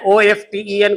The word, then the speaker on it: often: People cheated him often, है ना, OFTEN को पढ़ेंगे often, T साइलेंट होता है, यानी प्रायः लोग उसे ठग लेते थे।